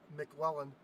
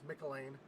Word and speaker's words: McElwain: and I just realized I always say Cody's last name wrong, and I do apologize. It's the Scottish in me that says it, sees it, and sees McLellan. I know it's McElwain. I know I keep saying it wrong, and I do apologize for that.